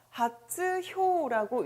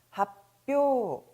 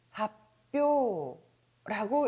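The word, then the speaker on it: 発表: 역시 발이라는 리을 발음 때문에 그렇죠. 하츠효라고 읽으시면 절대로 안 되겠습니다. 바로 이 츠가 초금으로 다시 또 작아지는 현상을 보시게 되는데요. 자, 일단 발음도 같이 강해지니까 옳은 발음 같이 읽어보도록 하죠. 자, 발표라는 단어입니다. 합표, 합표라고 읽으시면 되겠습니다.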